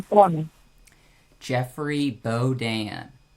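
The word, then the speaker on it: Bodin: And it's called Balden. Your last name, Balden. Yeah. How you pronounce it? B O D I N. Oh, Bodan.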